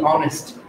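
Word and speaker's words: honest: এম ই এস, দি অনেস্ট, তাহলে এটা দি হবে, কেন দি হবে, এখানে কিন্তু এইচটা উচ্চারণ হয় নাই, তার মানে হচ্ছে এখানে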